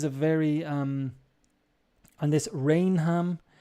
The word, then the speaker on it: Rainham: very um and this rainham the h becomes silent and it's raynham raynham okay so um like